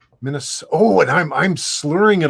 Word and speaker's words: Minnesota: They actually pronounce the T like a T. Minnesota.